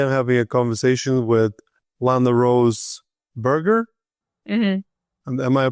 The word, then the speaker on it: LanaRose Berger: Today I'm having a conversation with Lana Rose Burger. Am I pronouncing it correctly?